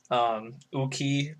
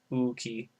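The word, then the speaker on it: 大きい: Uki being large, and again, emphasis on u, so it's a double u sound. Uki.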